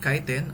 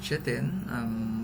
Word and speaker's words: chitin: actually process cellulose fungal cells are made of chitin or chitin whatever pronunciation you're comfortable with which is the same